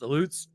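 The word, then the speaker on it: Aleuts: And I'm pretty sure it's pronounced elutes because of the Illutian Islands.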